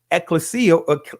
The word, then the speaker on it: ecclesia: Ecclesia or ecclesia, however you want to pronounce it.